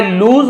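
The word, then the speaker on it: lose: इफ आई लूज my balance, लूज लॉस नहीं है, लूज लूज यानी खो देना, यदि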